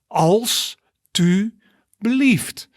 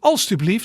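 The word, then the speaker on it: alstublieft: pronunciation of it so you see it has three syllables als to believed right also believed so that means police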